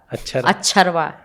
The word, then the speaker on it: अक्षरा: क्या बोलते हैं? अक्षरा। अक्षरा अक्षरा अक्षरवा। थोड़ा वहां का टोन आ जाता है उस तरफ के लोग।